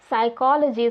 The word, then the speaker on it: psychology: depth had silent b psychology start with p but you never say it so why because English